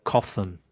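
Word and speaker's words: cothon: right in ancient times the harbor in Carthage was known as the coffin. So that's spelled c o t h o n.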